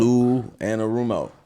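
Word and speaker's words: Lou Anarumo: Lou Anorumo.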